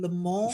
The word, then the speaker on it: Le Mans: You have to help me with the pronunciation. Le Mans That's good.